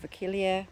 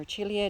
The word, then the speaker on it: achillea: And here's another type of achillea or achillea, depending on how you say it.